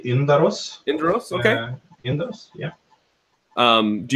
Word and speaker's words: Yndaros: It's Yndaros. Yeah, in Swedish we say Yndaros.